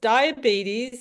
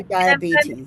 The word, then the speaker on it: diabetes: Afghan in Afghan you say diabet. Yes ma'am. Say diabetes.